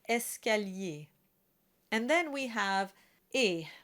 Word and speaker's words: escalier: still pronounced with the ER combination, and it's pronounced escalier.